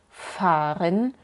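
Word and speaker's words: fahren: por el otro lado cuando queremos señalizar que de verdad es largo se puede hacer agregando una H detrás de la vocal Como por ejemplo en faren o zane para no dejar duda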